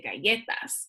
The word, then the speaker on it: galletas: I don't say galletas, I say galletas. It's that second to last syllable that just gets the accent when I pronounce it.